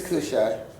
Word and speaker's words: Cushi: What is it pronounced? You have scholars. It's Cushai.